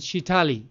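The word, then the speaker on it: Sheetali: Shitli. Shitli, or here in America, I pronounce it Shitali.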